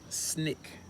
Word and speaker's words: SNCC: Student Nonviolent Coordinating Committee, or SNCC, pronounced SNCC.